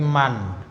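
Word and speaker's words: مَنْ: itu bantuan yang depan itu bacanya bukan Min tapi Man karena tanya siapa siapa yang keluar dari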